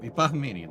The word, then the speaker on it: Bahamian: How much how much of an inclination difference is the Bahamanian Baham Bahamian Baham Bahamian that's how you say it from the initial southern